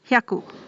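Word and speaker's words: 百: Or, as I said, it might have come from the similar pronunciation of shiroi. Shiroi onyomi is haku or byaku. 100 is called as hyaku.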